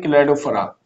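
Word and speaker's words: Cladophora: क्लेडोफरा, इसको पढ़ते हैं क्लेडोफरा, इसको जो नाम है क्लेडोफरा, ये एग्जांपल है इसके।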